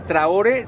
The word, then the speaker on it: Traore: Amigos, pues aquí tienen a Traore, ¿sí lo pronuncié bien? Sí, Traore.